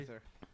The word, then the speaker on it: Gaither: And Byron Gaither, is that how you- Gaither. Gaither. Okay. It actually sounds better as Gauthier. You said almost like... Gaither, yes.